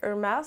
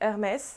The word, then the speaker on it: Hermès: Yes, I say Hermès, you can say Hermès. I don't know how to say it in American, but anyway, this is French brand, so I'm gonna say Hermès, because yes, I'm French.